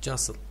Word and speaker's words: jostled: And T is not pronounced. Jocelyn.